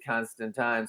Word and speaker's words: Constantine: like written out how he said that it rhymes with wine. In a book. I don't remember if it was Garth Ennis or who wrote it, but they said that it actually is Constantine.